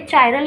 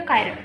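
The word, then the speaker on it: chiral: तो यहाँ से आपसे कोई पूछने लगे चायरल या कायरल, दोनों में से कोई भी बोल सकते हैं, आप प्रोनाउंस करने के ऊपर डिपेंड करता है।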